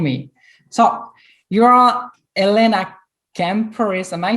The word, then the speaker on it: Kampouris: the right way is replace the p with a b sound so cambodis okay so now you